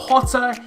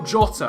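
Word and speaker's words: Jota: that including the fact it's not hotter it's the oh go jot or do Johnson I thought it was the Spanish pronunciation it isn't anyway asked episode you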